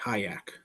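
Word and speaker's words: Hyak: Hayak Motorsports um spelled h y a k pronounced h a haak so uh you got that and spit on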